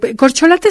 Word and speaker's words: corcholata: en la política eh corcholata es una palabra llana de cuatro sílabas es un sustantivo eh